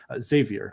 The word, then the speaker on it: Xavier: won on the road against Xavier they won Xavier I've learned to pronounce that correctly they also won against Creighton